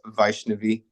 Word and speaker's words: Vaishnavi: a PhD, also known as Vaishnavi. Did I pronounce that correctly?